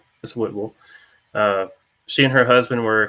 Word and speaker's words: Whitwell: It's spelled Whitwell, but it's Whitwell.